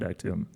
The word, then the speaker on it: Actum: this issue and found Actum? Well, you actually, uh, you do call it is the Latin pronunciation of actum? We I don't just know. call it actum.